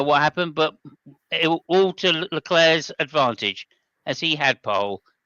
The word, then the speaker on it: Leclerc: I was so excited because our man, the pastry, none other than Charles Leclerc, or Leclerc, depending on how you wish to pronounce it. I prefer Leclerc because that sounds like a pastry.